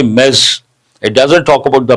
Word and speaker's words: Ms: Imagine the spelling is me e zed mess. That's how you have to pronounce.